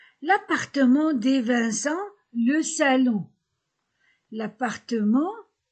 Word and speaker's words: appartement: L'appartement, ENT, en.